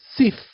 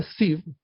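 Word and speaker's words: Ziv: Bueno, Sif, ¿sí? O Sif, esta final es una Bab, pero se puede llegar a encontrar como pronunciada como una F, en realidad es una B corta, por eso es el mes de Sif.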